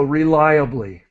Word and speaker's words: reliably: okay and so just this word is is important r that syllable is lie so reliably M rely on something